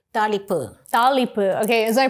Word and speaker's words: thaalippu: It's called talipu. Talipu. Talipu. Okay, is my pronunciation okay?